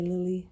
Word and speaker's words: Lily: But until the next vlog, it's your girl Lis aka Lily like the flower.